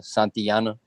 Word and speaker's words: Santillana: Yeah, it's Santillana. Santiana? Yeah, the L's are pronounced as a Y.